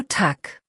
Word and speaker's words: Tag: Kurze Aussprachebox, ganz simpel, Tag hat ein hartes G am Ende, so Tag.